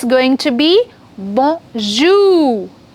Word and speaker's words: bonjour: In French, we do not stress the first syllable, but we stress on the second syllable. Okay, so it's going to be bonjour.